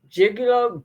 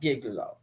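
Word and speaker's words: Giglio: Brady and Jig Jig Jigalo Jigalo or something something like that. Gigglio. Gigglio, I'm sorry. It's pronounced Gigglo.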